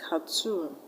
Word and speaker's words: cartoon: OON, like cartoon, afternoon, teaspoon. This stress ending OON. So we're going to stress on the last level. In cartoon, you're going to stress tune.